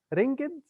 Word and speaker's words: ringed: Ringed from ring, but you know, reducing one syllable, ringed, ringed with the azure world.